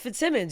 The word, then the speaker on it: Fitzsimmons: I would say Flips Glimons. It's Fitz Simmons.